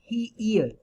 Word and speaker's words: heir: Now here the word heir, H-E-I-R, H is silent, that means successor.